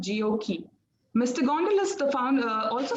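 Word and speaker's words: GOQii: is the founder and ceo of gokey pronounced geokey mr gondalas the founder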